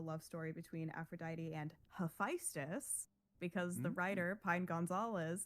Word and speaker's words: Hephaestus: So I had to train myself not to say Hephaestus, because that's what I think is more common in at least like the American public zeitgeist on how to pronounce that name.